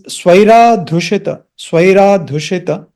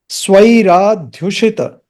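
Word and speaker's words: स्वैराध्युषित: This svairādhyuṣita, we have to pronounce it clearly. It is swai, not sway. Svairādhyuṣita. That dha is half. There is no a after the h. Svairādhyuṣita. Svairādhyuṣita. Retroflex shakara.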